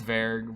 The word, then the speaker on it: Zverg: Zverg, I know Zverg. it's Verg, but we both made fun of how it's spelled.